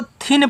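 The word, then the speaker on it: thin: हमने बताया था कि टी एच को यहां द और था दोनों पढ़ा जाता है। तो यहां मुझे था पढ़ना है। टी एच आई एन को पढ़ेंगे थिन। तो टी एच से आपका था।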